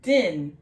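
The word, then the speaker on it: דין: We have a dalid, d like dog, a yod, and a nun, y. So you have a y and a n, so a d, y, n sound. And we have one vowel, which is the bitter vowel. So it's going to be I. So d, y, n, and just like in English, A-E-I-O-U-N, sometimes Y. So din, this is going to be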